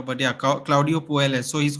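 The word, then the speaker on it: Puelles: think it's pronounced because Double L is pronounced J I think in Peru and South America but yeah Claudio poels so he's called The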